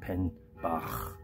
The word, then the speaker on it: penn-bazh: Okay, so it's like this hanging above the door, the Penn-bazh, derv. My pronunciation is perhaps wrong. It's Penn-bazh, because it's said H is sometimes pronounced Bach.